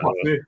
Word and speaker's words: Poissy: From Poissy, France. I think it's Poissy or something like that. Poissy.